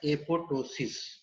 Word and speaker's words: apoptosis: It is pronounced as apoptosis. Someone also pronounce it as apoptosis, where P is silent. Usually P is silent, and therefore you should pronounce it as apoptosis, right?